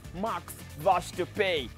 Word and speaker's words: Max Verstappen: marks washed the pay i was told the pronunciation of this name is max wash to pay a good win now max was up winning